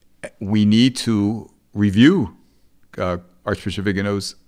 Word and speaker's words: Viganò: Billy, just about every reporter I've heard has mispronounced the name. It's Vigano. Vigano.